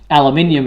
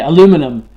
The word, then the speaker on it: aluminium: this, pronounce that, and we say things like aluminium, and you guys say aluminum. Yeah, but the thing with aluminium is that puts an extra letter in the word, though.